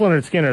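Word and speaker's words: Lynyrd Skynyrd: songs that album was just stupendous so and pronounced Leonard Skinner like I said that had Freebird on it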